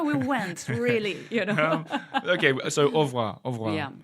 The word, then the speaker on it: au revoir: Yeah, but the reality of it, we tend to say au revoir. So more of an open A at the beginning. Au revoir. Au revoir. You still pronounce that little R in the middle.